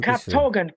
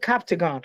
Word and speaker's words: Captagon: No, Captogan. It's called Captagon.